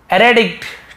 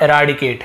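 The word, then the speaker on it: eradicate: और abolish, eliminate और uproot, तो इसका मतलब होता है आपका एराडिकेट, है ना, एराडिकेट। गलत बोल दिया तो फिर से ध्यान देंगे, एराडिकेट।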